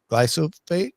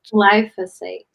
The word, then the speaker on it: glyphosate: Glyophat. Glyphosate.